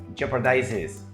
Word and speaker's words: jeopardizes: Jeopardizes, jeopardizes. Tengo que añadirle esa última, ese is.